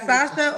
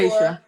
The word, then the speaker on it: Seisha: We got Sasha, Oklahoma, 34. Seisha. And it's I okay. People apologize. always Seisha? mispronounce it.